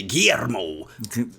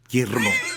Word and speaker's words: Guillermo: Guillermo. And she rolled the L's. Guillermo.